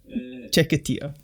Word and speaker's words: Chiquitita: This is when, I'm going to try and say this, the song Chiquitita? How do you say this? You got it. Chiquitita.